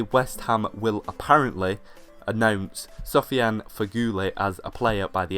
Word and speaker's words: Feghouli: I do know that the last name is pronounced Feghouli, but I don't know about the first bit.